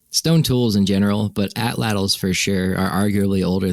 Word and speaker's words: atlatl: And when we got to, or not we, like when the Europeans arrived in the Americas, we called it the atlatl, which is how you say atlatl, because that was the Nahuatl or the Aztec word for it.